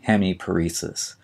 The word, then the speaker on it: hemiparesis: paralysis of a muscle and finally we have hemiparesis h e m i p a r s